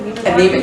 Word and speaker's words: Neiman Marcus: Neiman Marcus?